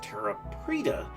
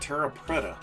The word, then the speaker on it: terra preta: I was mispronouncing this this is actually pronounced Terra Preta not Terra Preta so yes you know